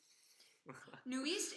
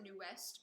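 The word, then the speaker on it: NU'EST: and really good modulations new East is nice w ok nice I used to pronounce a new West but then I was corrected that's excited for John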